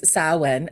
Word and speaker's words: Samhain: and difficult because uh it is saen um sa when um in Celtic which is s m ha a a i n which makes no sense